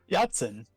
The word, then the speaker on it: Yachtin: Yachtin. Yachtin. Yeah, because he's got a yacht.